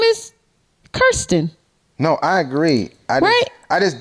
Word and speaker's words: Kirsten: case may be um her name is not hard though you just to pay attention well it's Kirsten yeah not Kirsten you only get it wrong if you look too fast but Kirsten is spelled the same way what you mean kiss question is spelled k-i-r-s-t-e-n which is why she said it's Kirsten not Kirsten so I do